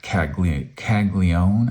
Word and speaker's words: Caglianone: The Jack Caglione, I think that N right there, it's spelled Caglianone, but I hear it pronounced Caglione. So you tell me.